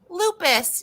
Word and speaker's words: lupus: ribbon who is she oh lupus that's how you say it lupus yeah like the the